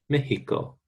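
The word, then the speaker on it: México: Mexico. And definitely not Mochiga. Mexico. In Spanish, this X, a long time ago, used to be pronounced H, and Mexico still keeps that.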